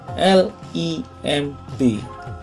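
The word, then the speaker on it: limb: Lereng di antara antiklin dan siklin disebut lim. Ejaannya L-I-M-B, lim.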